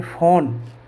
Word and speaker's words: phone: तो इस प्रकार से हमने यहाँ देखा पी का उच्चारण पे भी होता है और पी का उच्चारण फे भी होता है। जैसे मैंने लिखा PHONE, इसको हम बोलेंगे फ़ोन, इसको हम बोलेंगे फ़ोन। क्या बोलेंगे? फ़ोन।